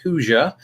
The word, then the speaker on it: Hoosier: of the fact that I drop the R at the end, but I go with Hoosier.